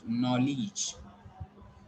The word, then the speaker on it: knowledge: You have to pronounce it knowledge. Here, E sound is there. Okay, so that you people try to understand that here this letter is silent, this letter is silent, and here it is E, not A.